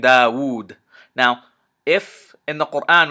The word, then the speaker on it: Dawood: So the classic example is the name Dawood.